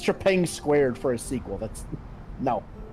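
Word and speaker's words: Trepang2: Also, it's pronounced Trepang squared, you freaking tourist.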